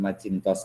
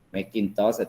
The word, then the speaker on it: Macintosh: gratis The kemudian juga Macintosh Macintosh ya jangan machintos lagi Macintosh Mac itu-itu juga sistem